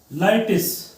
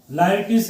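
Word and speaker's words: Laertes: Okay, सो जो ये उसका लड़का पोलोनियस का, ये इसको बोलेंगे लाइटिस, लाइटिस ही प्रोनाउंसिएशन।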